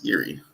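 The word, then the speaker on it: Jiří: Is it Yuri or Jiri? How do you say his name? Yuri. Yuri. It's from Czech Republic.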